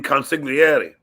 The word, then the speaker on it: consigliere: No, you mean consigliere.